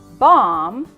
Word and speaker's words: bomb: time lamb Krum num bomb and thumb what do you notice about MV so not only is the be silent it's at the end of the word it's not in the